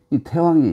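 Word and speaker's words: 太王: 섬긴다 그래서 저기 보면이 태왕이 있죠 대략 대라고 쓰고는 해라고 읽는다 여러분 이거 어떻게 했습니까 어떻게이 산이잖아요 그런데 GE 산이라고 써놓고는 지리산으로 있잖아요 그렇지 않습니까 그와 마찬가지로 대라고 쓰고는 테라고 읽는다 태왕 태왕은 바로 주나라의 문왕의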